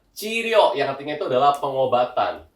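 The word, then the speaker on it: 治療: Jadi cara bacanya itu adalah chiryo yang artinya itu adalah pengobatan.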